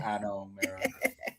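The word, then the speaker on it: Ano Mera: The way you pronounce it is the AH-NO. And then the second part is MEH-RAH.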